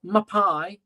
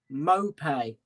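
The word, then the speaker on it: Maupay: get your pronunciations right not my pie it's mopay uh Joe mulhum says how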